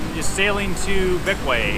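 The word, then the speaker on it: Bequia: just sailing to beway I think it's called beway it is how do you spell it b e q UIA we almost had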